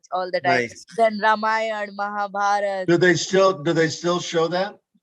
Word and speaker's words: Ramayana: I remember Brahmananda some years back, he presented or was selling Ramayan. Am I pronouncing it correctly? Is it Ramayan or Ramayan? I say It's Ramayana. Ramayana. Yeah. Ramayan, yeah.